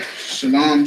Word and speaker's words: Shalom: Shalom is bastardized. For y'all who don't know, let's say it right. Shalom, shalom, shalom.